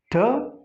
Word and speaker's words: turmeric: Turmeric. So here it as in bird. Turmeric. This is usually pronounced wrongly.